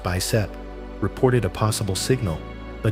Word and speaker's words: BICEP: In 2014, the background imaging of cosmic extragalactic polarization, pronounced BICEP, reported a possible signal.